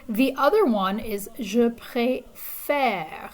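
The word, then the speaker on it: préfère: the other one is je pre faire it's more like the english word fair f-a-i-r it's pronounced like that that e is kind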